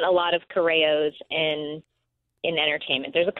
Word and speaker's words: Corrao: to find me there's not a lot of coros in in entertainment there's a couple there's another